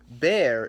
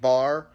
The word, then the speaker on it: Barry: It's pronounced Bear, even though by itself it looks like Bar. Some people call me Bar. It's Bear. It's not the beginning of Bartholomew.